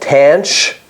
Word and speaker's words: tanh: There is a hyperbolic version of the tan function called tanch x, which is the ratio of shine x over cosh x.